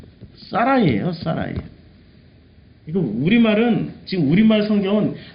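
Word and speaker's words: שָׂרַי: 히브리어를 읽으면 사라이. 자, 이 사라이라는 이름을 보면은 지금 요 발음도 사라이라고 되어 있죠. 사라이. 지배하는 이란 뜻이 있어요, 사전적으로. 응? 사라이가 지배하는 사람이야? 자, 우리가 이래서 고대 문명 문화를 알아야 돼요. 그러니까 사례는 우리말로 번역을 사례라고 했는데 실제 발음은 사라이라고 번역해요.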